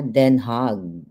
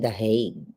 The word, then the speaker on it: Den Haag: Dito sa Den Haag, yun pala ang tamang bigkas ng kanilang lugar. But in English, ang mga English speakers ay The Hague. Pero ang tama ay Den Haag.